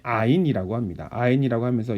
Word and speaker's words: 아인: 아인이라고 읽고요.